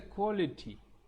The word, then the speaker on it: quality: LITY என்று முடிஞ்சாலும் கூட that is leti, not liti, leti.